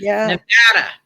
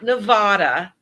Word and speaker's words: Nevada: I mean, seriously, because most people come here and they don't know how to pronounce the the um the pronunciation of Nevada, not Nevada, right?